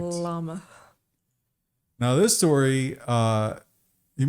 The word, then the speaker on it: Llama: llama thing adapt it you have to pronounce both else that's incorrect llama now this story uh